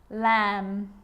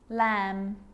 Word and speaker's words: lamb: with the letter B it's always silent when it follows the letter M climb Krum lamb some gum and plummer